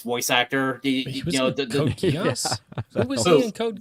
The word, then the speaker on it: Code Geass: Code Geass is Code Geass. There's no other way I could say it. That is how you pronounce it.